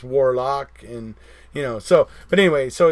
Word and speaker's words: Warlawk: So if you guys go back through this chat, you can find Warlock, and it's spelled Warlawk. So it's almost like Warhawk, but it's Warlock, and so.